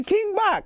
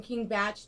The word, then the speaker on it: King Bach: King Bach another cool he corrected me on stage cuz now cuz now millions of people wouldn't see my name wrong as King Bach that's right kidding me you're going from you know from king batch to now yeah look in the